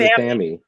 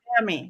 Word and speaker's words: athame: He said athame. athame Which is actually the correct way to pronounce it because that's how they pronounced it in England.